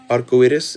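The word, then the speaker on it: arcoíris: Arcoiris is pronounced arcoiris.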